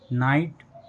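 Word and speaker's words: night: जैसे लाइट नाइट फाइट माइट ब्राइट cot fought taught what thought in सभी words में word के last में जीएस टी लेटर आया है। और जीएसटी लेटर में जी एच साइलेंट है।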